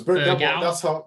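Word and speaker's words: Bergwijn: No, it's Berghaus. That's how the Dutch commentators pronounce it. They go Berghaus.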